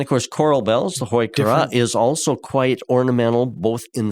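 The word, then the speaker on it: Heuchera: Now, I pronounce it hoikura, Heu, hoikura. I've also heard some pronounce it hukura.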